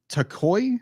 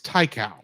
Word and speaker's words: Taiko: I'm guessing it's Taiko. Taiko. Not Taiko. Yeah, well, you're thinking of Taito, but this is Taiko. That's right. Yeah. Taiko. I'm thinking it rhymes with Taito, which is a Japanese video game developer.